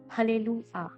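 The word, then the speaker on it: Hallelujah: Then we have हलेलुआ, हलेलुआ में भी आपका J जो है वो आपका साइलेंट है।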